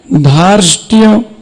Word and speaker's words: धार्ष्ट्य: विधर्म भाव धर्ष धार्ष्ट्य, इसको अच्छी से उच्चारण करना। पहले धा, बड़ा धा, फिर रा, फिर शा, फिर टा, फिर या। धार्ष्ट्य।